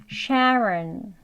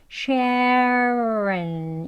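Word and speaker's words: Sharon: 나오게 다음은 샤론 있니다 샤론은 하고 시작하죠 샤 sharen 예 여기 R 시작했으니까 SH 소리 앞에 준비 소리 넣으셔서 shen 이렇게 발음하시면 조금 쉬워요 sharen 다음은 미션입니다 예 여기도 미 오바마 좀 들어보신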